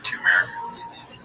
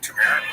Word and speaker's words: turmeric: It's like you want to see shop say turmeric. I'm struggling. I don't know if I said it right. Tumeric. Yeah. Turmeric.